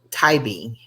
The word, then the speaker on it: Tybee: that how you say it Timmy or Tybee Tybee Tybee Georgia we have a lot of weird